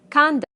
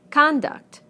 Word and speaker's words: conduct: Conduct, conduct. Progress, progress. Contract, contract. Object, object. Permit, permit. Again, we stress the first syllable in the nouns and the second syllable in the verbs.